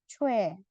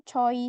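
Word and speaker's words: 최: vokal W jadinya nah ini dibacanya adalah cue c jadi bukan coy gitu ya Meskipun sama o sama I ini penulisannya benar ini juga benar tapi cara bacanya adalah yang ini makanya ya rebun kalau misal tahu nama artis ya C si W gitu ya ini bacanya bukan choy si one bukan tulisannya choy tapi dibacanya Cu seperti itu lanjut konsonan kek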